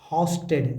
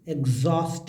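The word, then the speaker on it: exhaust: हस्टेड एक्स बोलते हैं एग्जॉस्ट एग्जॉस्ट एक्स को एक्स को एक्स या नहीं एक्स को एग्ज बोलेंगे क्या बोलेंगे एग्ज बोलिए एग्जॉस्ट एग हस्ट हस्टेड नहीं एग्जॉस्ट एस्टेड उच्चारण ऐसे ही आएगा लिखा हुआ वाला आपको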